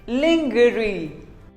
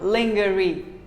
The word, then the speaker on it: lingerie: is pizza pizza pizza here's another commonly mispronounced word lingerie well most of us call it lingerie no it is not lingerie it is actually called lingerie say lingerie long jury what do you call